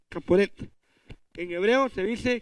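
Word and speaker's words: כפורת: En hebreo, el propiciatorio se llamaba, o se pronuncia, Caporet, Caporet. En hebreo se dice Caporet.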